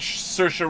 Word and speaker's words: Saoirse: Knightley Keira Knightley and Saoirse Ronan like inertia yep Saoirse like inertia that's right I like sir I